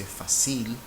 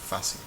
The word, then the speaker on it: fácil: Nobody would say fácil. It's fácil.